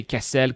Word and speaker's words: Kessel: to be, of course, Kessel, which actually should never be pronounced castle. If you pronounce this place castle, you are going to irritate the natives, according to the lore here. So do say Kessel.